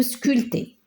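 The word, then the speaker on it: sculpter: bon il le verbe sculter il y a pas de problème une statue euh en bronze donc sculte avec E et là ce P on la prononce pas c'est une lettre muette nous le verbe placer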